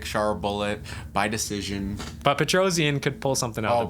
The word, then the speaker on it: Petrosyan: It's Petrosyan, by the way. Petrosyan. All right, so I have also not pronounced a single fighter's name right this video, nor have I ever pronounced a single fighter's name.